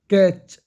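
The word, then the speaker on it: catch: कैच, सी एच से पहले T silent है, ठीक है।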